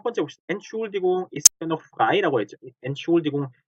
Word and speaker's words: Entschuldigung: 생활에서 entschuldigung이라는 표현보다 그냥 schuldigung 하는 표현을 듣게 돼요. 그래서 뭐지? schuldigung인가? 하고 듣게 되는데, 사실은 엄밀히면 ent라는 발음이 죽어버린 거야. 그래서 너무 빨리 entschuldigung인데 넘어가서 마치 schuldigung인 것처럼 들리죠.